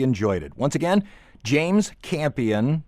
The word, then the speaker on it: Campion: Once again, James Campion, it's spelled like champion, drop the H.